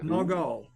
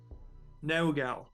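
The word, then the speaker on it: Naugal: no it's n-a-u-g-a-l oh no goal or no no gal however you want to pronounce it that's how you spell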